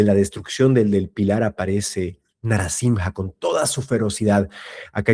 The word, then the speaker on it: Narasimha: pelear y a matar a Hiranyakashipu, se la pronuncia Narasimha, Narasimha. Pero no les quiero hacer el spoiler, pero cuando se pasa toda esa ira y rabia y enoja que sentía Narasimha, ahí sí se lo llama Narasimha.